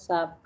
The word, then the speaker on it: SAP: week one so so sap success factor like uh it is um uh system application products in the data processing um and like uh sorry shab please don't pronounce as sap it's sap okay sap yeah okay fine